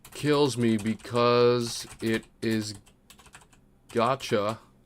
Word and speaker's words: gacha: This game kills me because it is gacha. What rhymes with gotcha?